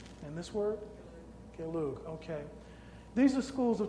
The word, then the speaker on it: Gelug: After extensive training in, never been sure how to pronounce that word. Does anybody know? Nyingma. And this word? Gelug.